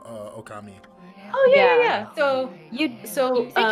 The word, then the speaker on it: Ōkami: So but yeah, Ōkami, so there's a long O there. Ōkami. It says that when you pick the when I had to pick what game we were streaming, there was a macron over the O.